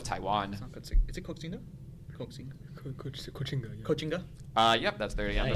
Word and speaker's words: Koxinga: Kochinga. Yep, that's 30 on the bonus. That is Koxinga.